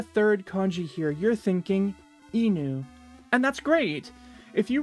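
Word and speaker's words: 犬: But this enu kanji will frequently be pronounced ken in a variety of different situations.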